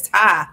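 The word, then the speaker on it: Ptah: Oh, if people pronounce it Patah, I've been pronouncing it Patah. It's Ty. Okay. The P is silent.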